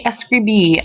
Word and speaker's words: escribí: that you remember that the accent is on the very last letter, on the O.